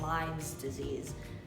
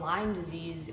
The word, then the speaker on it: Lyme disease: how to say it it's lyme disease not lyme's disease there is no s and also lyme disease is a bacterial infection